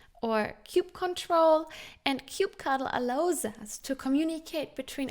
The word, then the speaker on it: kubectl: And that tool is specific to Kubernetes called kubectl, also pronounced cube CTL, or cube control. And kubectl allows us to communicate